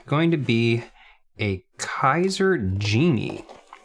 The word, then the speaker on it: Genie: be a kaiser genie although they say that it is german for genius which would actually make the pronunciation i guess be more like jenny which i know sounds french but i'm just gonna keep saying genie because that's what everyone says okay yeah now it's